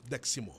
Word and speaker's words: Deximo: Tama ba ang pronunciation ko sa apelido mo, Deximo? Yes po, Deximo.